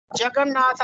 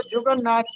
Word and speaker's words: جگن ناتھ: تھے، تلوک چند محروم۔ جگن ناتھ آزاد ان کے بڑے مشہور فرزند ہیں، اور اکثر لوگ اس کو جگن ناتھ پڑھتے ہیں، جبکہ درست تلفظ ہے جگن ناتھ، جیم پر زبر ہے۔ جی آگے بڑھے۔